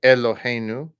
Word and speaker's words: Eloheinu: Okay, Eloheinu. You can kind of see how when it's written that way, the intention is that you kind of like pronounce it like like almost like a pure Sheva, like Eloheinu, Eloheinu, Adon, Malache.